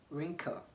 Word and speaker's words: wrinkle: when is W silent W is silent or not pronounced when it comes before r at the beginning of